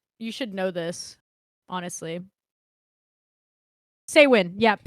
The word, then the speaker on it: Samhain: Okay, it's spelled Sam Hain, but it's say when.